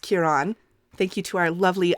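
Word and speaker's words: Ciarán: It's pronounced Kieran.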